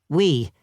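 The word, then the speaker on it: oui: But it's pronounced we, which makes no sense at all.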